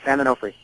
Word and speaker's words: San Onofre: Am I pronouncing that right? Yeah, San Onofre.